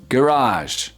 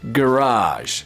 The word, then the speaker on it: garage: Garage. Yes. Garage. So you stress the second syllable in American English. Garage. And the first syllable in British English.